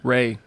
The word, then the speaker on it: Ralph: What? Ray. That's how you pronounce his first name.